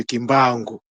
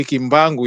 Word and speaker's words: Kimbangu: Lorsqu'il y a un N devant une consonne, le N se prononce pas.